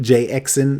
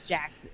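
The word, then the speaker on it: Jaxn: a lot of people i was pronouncing it when i saw it jay excellent jay exin no it's like maybe his real name is derek jackson spelled regular but he is jackson but for for the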